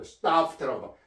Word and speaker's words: stuffed: stuffed라고. 이 발음은요, stuffed 이렇게 말합니다. stuffed 하면요, stuffed 요 순경음 피읍은 F 발음입니다.